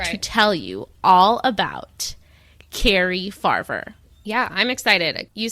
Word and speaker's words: Cari: this is Carrie F I think it's Carrie not Ki but it's spelled c a r i but I'm just going to call it Carrie so okay so before